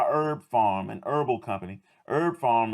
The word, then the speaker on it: Herb Pharm: Herb Pharm is herb, but farm is spelled P-H-A-R-M.